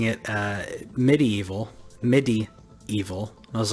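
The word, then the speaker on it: MediEvil: also got medieval sorry I've been calling it medieval my entire life yeah and they pronouncing it medieval MIDI evil I was like oh okay I get it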